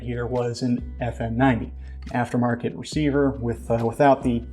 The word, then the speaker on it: FN90: you'll see is the FN90. It's spelled E-F-F-E-N. You see what they did there? Haha, funny. But the FN90.